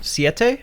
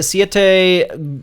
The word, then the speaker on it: Siete: cool bag how do you say it yeah siete it's like what seven yeah it's probably there's